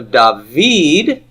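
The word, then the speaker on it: דָּוִד: to the second now so dahveed the V part is tonic the da part is pre tonic and the Yad is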